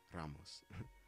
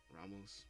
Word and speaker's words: Ramos: Ramos Ramos sorry um I'm Mexican so I roll my RS I want to say it correctly because I seear some people say Ramos but it's like it's Ramos Ramos Ramos I think I'm saying it correctly Ramos sorry for repeating